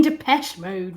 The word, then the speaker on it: Depeche Mode: love that um that band oh you mean depeche mode right sorry i'm pronouncing it wrongly of course yeah um anyway